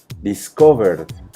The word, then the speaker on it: discovered: Por lo tanto, cuando yo lo transformo en pasado, que es discover, discovered, la pronunciación deberá ser en lugar de ed como una D, discovered, ¿vale?